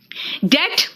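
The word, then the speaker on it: debt: colour नहीं है it subtle colour है ना डेट बेटा कई लोग डेप्ट बोलते हैं इट इज नॉट डेप्ट इट इज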